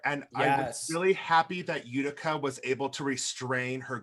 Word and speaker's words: Utica: going to up the name utica and um did i say it right robbie